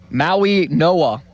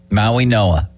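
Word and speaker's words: Mauigoa: It was an unbelievable pronunciation. That doesn't even look like the name. He's a tackle from Miami. And Maui Noah. Maui Noah.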